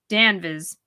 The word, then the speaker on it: Danvers: name as Massachusetts sorry pronouncing the town's name is Massachusetts people all did danvis making it sound like a town but something you'd think to settle an upset an upset tummy lost in the woods